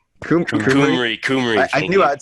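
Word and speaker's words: Cymru: Besides Chimru, like Kumri. Kumri.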